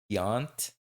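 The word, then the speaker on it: Tiant: Luis Yant. That's how you pronounce his last name.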